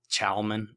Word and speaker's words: Chalman: Devil's Tail is refined into Chalman or Calman, however you want to pronounce it. I call it Calman.